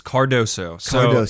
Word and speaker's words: Cardoso: name fully all right it's cardoso if you look at it how it's spelled it's it you say it exactly how it's spelled exactly you just gotta sound it out and just i like